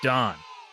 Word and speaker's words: davvn: for having us and nailing the pronunciation on my name and our band name I'm so impressed yeah we get we get d a lot but you crushed it I I mean look